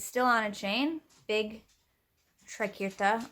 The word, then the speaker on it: triquetra: on a chain big trekirta or triquetra is actually i think how it's supposed to be pronounced because when i looked